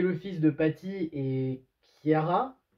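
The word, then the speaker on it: Ciara: Hank qui est le fils de Patty et Kiara. Oui, c'est avec un C, mais je crois que ça se prononce K, si je me souviens bien.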